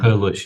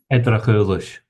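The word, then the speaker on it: Eddrachillis: I'm not exactly sure on the pronunciation. It starts with an E, and they interacted with the. Edrachulish, yes. Say that again, please. Edrachulish.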